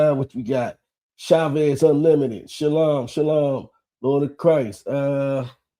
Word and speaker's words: shalom: And also, we don't say shalawam. That's actually the verb. The actual peace is shalom, brother. That's how you say it in Hebrew.